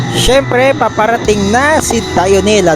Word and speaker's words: Dionela: Syempre Paparating na si dionela dionela pala pronounce niyan Hindi jonela eh sa mga nagtatawag ng jonela dionela pala ang pronounce niyan hindi jonela tandaan niyo yan guys sa mga k